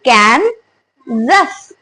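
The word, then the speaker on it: Kansas: व्ट should be the pronunciation it should be कैन जस instead of एस the word will be जी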